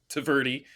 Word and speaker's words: Tvrdy: It means tough or hard, like a rock in Czech, and it's no vowels except for that Y. So that's like my daily Yeah. experience when I'm like introducing myself is like clarifying it's Tvrdy, TV ready, no vowels, and yeah, that's right.